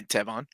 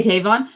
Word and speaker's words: Tevon: I was just saying hi, Tevon. Oh, hey, Tavon. No, not Tavon. Tevon. Tevon, sorry. He told me how to pronounce his name because I've been saying it wrong for years.